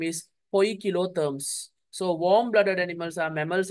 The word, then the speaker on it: poikilotherms: Okay, we used to pronounce it polchiotherms. It's not polchiotherm, poikilotherms.